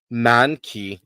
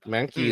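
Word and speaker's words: Mahnke: So, he he sits here and he rides the dick of Blackest Night, but Doug Mani is the best way I can pronounce it.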